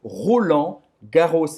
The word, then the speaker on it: Roland Garros: Les Internationaux de France, ou seja, le tournoi de Roland Garros. É assim que se pronuncia em francês. Roland Garros. Ou seja, vai pronunciar esse S no final, tá?